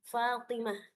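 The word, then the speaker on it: فاطمة: Nah, di sini ee terdapat tanda isi muanas di ta marbutahnya di akhir katanya yaitu huruf ta yang ketika diwakafkan dia menjadi huruf H. Fatimah.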